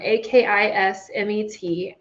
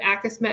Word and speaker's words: Akismet: So the first one is Spam, A-K-I-S-M-E-T, Akismet, I believe is how you say it.